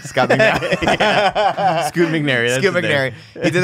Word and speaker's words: Scoot McNairy: Scott McNabb. Scott McNabb. Yeah. Scoot McNairy.